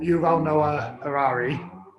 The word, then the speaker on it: Yuval Noah Harari: remember properly is um it's by uh yuval yuval noah harari that's how you say his name who wrote